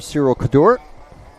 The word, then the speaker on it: Cyril Cadour: This is French racer Cyril Cadour, who assured me I was saying his name properly.